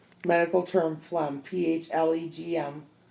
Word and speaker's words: phlegm: letters within the word silent letter G medical term Flum pH le GM phlegm pronounced FL a.m.